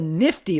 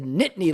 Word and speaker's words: Nittany: would correct you like it's not the nifty lions it's the nittany lions you're like what oh